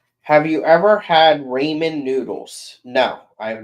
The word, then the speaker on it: ramen: It's raw men. Scotty, please say it right. There's no W in it.